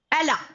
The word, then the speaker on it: Allah: So how do you pronounce Allah? Allah. Just like someone. You must have heard song of Rihanna. बहुत famous song है बच्चा Rihanna का. Like it was Umbrella. So umbrella, Allah, Allah, Allah.